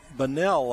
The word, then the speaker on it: Bunnell: Maddie Bunnell, I guess is the way it's pronounced there. Other areas, including relatives in my family, is Bunnell. So I've been calling it Bunnell.